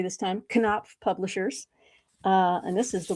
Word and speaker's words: Knopf: This is coming from Knopf, and I'm saying it correctly this time, Knopf Publishers.